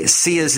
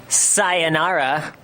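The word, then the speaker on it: Ciara: says hey just reminder the way to say ca's name is ca he spells it out phonetically because I guess some people were saying SAA sa sayara cuz that's how some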